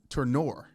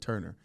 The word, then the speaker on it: Turnure: Fun fact, everyone, that I played with Zach for 3 years, and I always just looked at his last name and just said Turner.